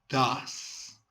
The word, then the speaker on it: does: Does es como si dijéramos el número 2 en español, pero más alargado.